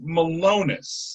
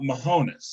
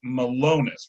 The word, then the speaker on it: Malonus: pronunciation of my name it's it's malonus not not mohonas it's malonus with like an l in the middle of it like other than that